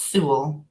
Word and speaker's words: Sewell: I get a sense that I might have mispronounced it. Not at all. It's Su.